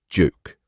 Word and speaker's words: Duke: The correct answer is a juke.